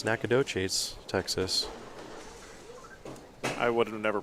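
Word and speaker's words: Nacogdoches: room that she moves in on friday it's nakadochis texas i would have never pronounced that so i'm glad that you know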